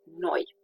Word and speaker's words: noi: Oi, in words such as noi, we, voi, do you remember? You, several persons, several people. Apoi, I'm not sure we did that one. Then, and they are pronounced like the O-Y, the English ones, in the word boy.